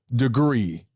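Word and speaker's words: DeGruy: you at okay continue Dr Joy degree that is her name that is her proper pronunciation Dr Joy degree please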